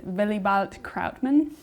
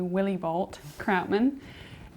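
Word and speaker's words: Willibald Krautmann: with a comical name the correct way to pronounce it is billy balt krautman i would think that most americans would say willy bolt krautman and the story is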